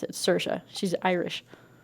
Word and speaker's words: Saoirse: Saoirse is how you pronounce her name. Saoirse. It's like inertia. She did a whole SNL skit on it. That's how you pronounce it. Saoirse.